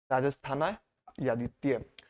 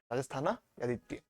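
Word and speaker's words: राजस्थानीयादित्य: इस शब्द का प्रोनाउंसिएशन क्या होगा? राजस्थाना यादित्य। राजस्थाना यादित्य।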